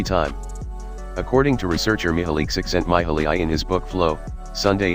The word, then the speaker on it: Csikszentmihalyi: Csikszentmihalyi, pronounced Csikszentmihalyi, if you're playing along at home, argues that